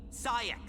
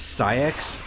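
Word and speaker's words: Saïx: Sak. Got it memorized? Now go save her. The pronunciation is Saiak.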